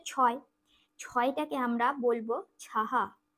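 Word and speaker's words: छह: ছয় টাকে আমরা বলবো ছাহা ছ আর বিসর্গ তাহলে উচ্চারণটা হিন্দিতে হবে ছাহা এই যে তিন লিখেছি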